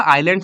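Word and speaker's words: islands: अच्छा, ये आइलैंड्स नहीं होता, आइलैंड्स होता है, इसमें एस साइलेंट होता है, प्लीज रिमेंबर दिस थिंग।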